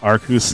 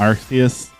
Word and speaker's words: Arceus: type of throwing meat it's pronounced arcus not artheus you know i've seen it debated hotly back and forth uh arceus just feels right to me oh man this